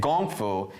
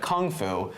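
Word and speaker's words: 功夫: Well, the best thing about this movie was the fact that they said Gong Fu instead of Kung Fu, because that's actually how it's pronounced, and they never say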